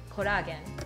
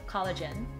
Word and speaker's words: collagen: be i hear taking kodagen collagen could keep you young so the english pronunciation of kodagen is collagen collagen collagen all right the next